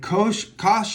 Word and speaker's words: cosh: Or you can say cosh rhymes with posh, and cinch rhymes with pinch.